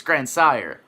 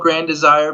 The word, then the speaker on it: Grandsire: when you look at it, it looks kind of like Grandsire, but it's Grandsire. Yeah, just like it's spelled. Some people, they like throw an H in there. I've been called Grand Desire, but hey, that's cool.